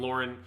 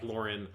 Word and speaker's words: Loran: say i don't know it sounds like lauren gwen likes to call him laura so it's clearly supposed to sound like lauren so we're going with lauren it is an intentional